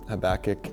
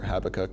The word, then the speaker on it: Habakkuk: I do love Habakkuk as I pronounced it there, or Habakkuk as I think the majority of the population pronounces it.